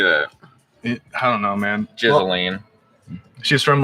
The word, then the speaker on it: Ghislaine: I just found out how to pronounce her name today. Huh. I've been calling her Jocelyn forever. Ghislaine?